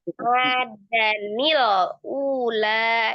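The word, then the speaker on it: عَادًا الْأُولَى: Nah, itu jadi cara membacanya dengan merubah ha tanwinnya menjadi fathah. Kemudian alifnya diganti jadi nun kasrah. Oh, jadi bacanya adanil ula ya.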